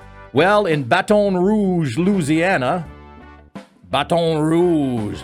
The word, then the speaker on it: Baton Rouge: Well, in Baton Rouge, Louisiana, Baton Rouge, Louisiana, which is how you're supposed to pronounce it down there, uh, Don J.